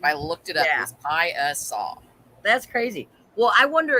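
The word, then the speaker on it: Piasa: not sure but i think it might be pronounced piazza nope it is pronounced pi uh saw that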